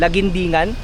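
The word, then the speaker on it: Laguindingan: Okay guys, nandito na tayo sa Cagayan de Oro sa paano i-pronounce yan? Lagindingan.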